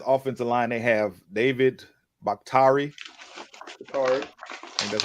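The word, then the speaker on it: Bakhtiari: the the packers offensive line they have david bakhtari and that's how you say his name uh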